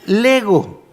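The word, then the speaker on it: λέγω: la últimas dos líneas se pronuncia LEGO que quiere decir colocar delante hablar Llamar Añadir decir Usted sabe que hay un juego se han visto el juego Lego conoce a alguien el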